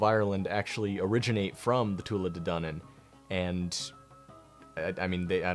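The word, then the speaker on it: Tuatha Dé Danann: eventually kicked out by the Tor dunnan I hope I'm pronouncing that correctly hold on the Tula dunnan yeah all these guys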